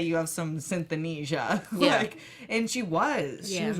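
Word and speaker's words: synesthesia: that even more so she has synth Anisha I believe it's how it's pronounced where your senses are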